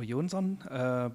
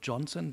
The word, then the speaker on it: Jonsson: Okay, yeah, Johnson is my name, or Jonsson, because I don't want to pretend that I'm American or British. Jonsson is a name from Sweden. So therefore, in my family, we pronounce it not Johnson, but it's easy on an international conference to use.